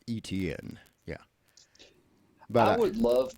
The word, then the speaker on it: Etienne: I always mispronounce his last name. Etienne. Yeah, like it almost sounds like a cable network. Etienne.